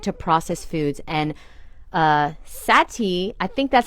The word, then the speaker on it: Sati: are you I'm good how do you say your name you said it right Sati Sati okay awesome where are